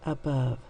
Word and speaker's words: above: say the word above two syllables the first syllable is a and i didn't write that very neatly we know we use a says a and the beginning syllable of a word an unaccented syllable makes the a sound above next syllable above oh here we have another uh but this time i'm going to use the o to say uh remember ah step fourth sound the schwa sound above and then i